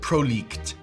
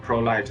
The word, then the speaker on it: Prolycht: I would pronounce it ProLicht. Yeah, sure. Actually, you can pronounce either as ProLicht or ProLight. I mean, Licht is a German word, means light, right?